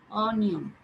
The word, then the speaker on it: অনিয়ম: হবে উচ্চারিত হবে না, একদম স্ট্রেট উচ্চারণ হবে অ। অনিয়ম, অমর, অনাশ্রিত, একটাও এভাবে হবে না যে অনিয়ম, অমর, অনাশ্রিত, এরকম কিছু হবে না। হ্যাঁ, এখানে অটা একবার অর মতো উচ্চারিত হবে।